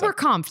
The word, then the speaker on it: Oberkampf: Oberkampf.